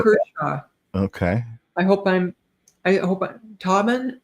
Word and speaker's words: Tobin: Tobin Kershaw. Okay. I hope Tobin, like is it Tobin like Robin?